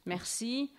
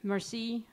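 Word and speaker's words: merci: is Meri we right Mercy listen there's an r in it if you don't say it perfectly who cares Mercy Mercy fine it's fine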